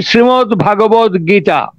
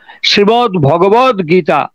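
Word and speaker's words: শ্রীমদ্ভগবদ্গীতা: এখানে একটা সমস্যা আছে, আমরা অনেকেই উচ্চারণ করে বসি শ্রীমদ্ ভাগবত গীতা। আমরা অনেকেই উচ্চারণ করি আমাদের অজ্ঞতাবশত শ্রীমদ্ ভাগবত গীতা। কথাটা ভুল, শ্রীমদ্ ভগবদ গীতা।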